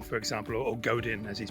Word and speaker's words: Godin: I mean, I love Seth Godin, for example, or Godin as he's pronounced, and I could be reading his stuff here and there, but occasionally I just get bored.